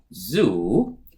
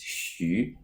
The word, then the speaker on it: Xu: It's not pronounced as Zhu, or it's not pronounced as Xu. The correct way to pronounce this is Xu.